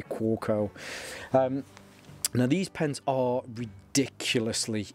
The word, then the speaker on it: Kaweco: So I'm guessing it's Kaweco or Kaweco, as the W is probably a V sound. But anyway, you know, splitting hairs on the pronunciation, the anglicized version of how you would say this would be Kaweco.